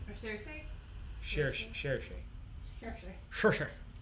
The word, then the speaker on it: Saoirse: Cherche. Cherche. Just say it like Sean Connery.